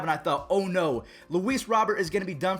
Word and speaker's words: Luis Robert: have to talk about luis robert again that's how you say his name but for the sake of today's video we'll say louise robert because i feel like everyone calls him that i thought for a